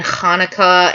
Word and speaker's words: Hanukkah: If you can't do you could just say Hasidic, but the CH in Hanukkah and Hasidic, it's literally like a C sound and then an H sound.